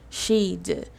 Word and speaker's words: she'd: done this yeah so don't be afraid to pronunciate the D because people will understand you know so it's pretty much just pronouncing the D I'd you'd she'd eat